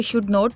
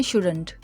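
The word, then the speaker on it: shouldn't: कुछ लोग इसे शुड नॉट बोलते हैं, जो कि रॉन्ग प्रोनाउंसिएशन है। इसकी राइट प्रोनाउंसिएशन है शुडंट, नहीं करना चाहिए।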